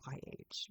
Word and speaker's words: Cherryh: And her last name is spelled Cherryh, which you would never know that that's pronounced Cherry unless you actually looked online.